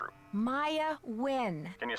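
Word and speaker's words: Nguyen: Maya Win. Can you spell that, please?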